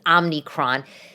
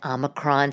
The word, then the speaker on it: Omicron: kids home because of Omicron, which I'm finally pronouncing correct, because for some reason I was thinking it was Omnicron. Don't you think that Omicron sounds like something you